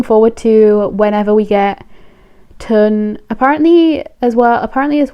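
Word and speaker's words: Tle: apparently as well like the way to say T L E like that name is um Ton. So I don't really know why you would spell it T L E if his name is Ton.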